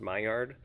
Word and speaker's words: Maillard: and that's called a Maillard reaction. It's spelled kind of like mallard, like the bird, but it's pronounced Maillard, and that's basically a toasting is what's taking place.